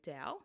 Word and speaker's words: Tao: Dao of healthy eating The Tao Dow like that's how it's spelled there's different ways of spelling it sometimes it's spelled Dao Dao and sometimes Tao so um this is